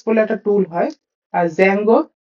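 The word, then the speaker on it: Django: দিয়ে তৈরি করা হয়েছে জ্যাঙ্গো বলে ডি দিয়ে কথাটা উচ্চারণ হয় তো ডি টা অমিট থাকে জ্যাঙ্গো হচ্ছে একটা ডিজ্যাঙ্গো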